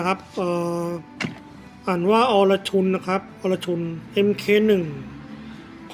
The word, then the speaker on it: Arjun: จาก อินเดีย นะ ครับ ครับ เอ่อ อ่าน ว่า อรชุน นะ ครับ อรชุน mk1 ความ เสีย หาย นี่